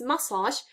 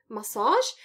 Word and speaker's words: massage: yeah word stress accent word stress is on the first syllable it's massage not massage uh even though this word probably does come from french and it should be stressed on the second syllable it isn't i don't know why